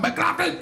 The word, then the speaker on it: McLaughlin: It's pronounced Yeah, it's called Mclaughlin and Temecula.